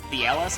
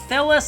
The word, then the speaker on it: Thelos: For some reason I added an extra A when I originally pronounced that. I was calling them Theelis and Arthelos. I don't think that's how they're pronounced. But that's how, Thelos and Arthelos, that's actually